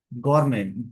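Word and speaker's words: gourmet: Practice जरूर कर ले एक word गवर्नमेंट जी ओ यू आर एम ई टी इसमें टी साइलेंट होता है।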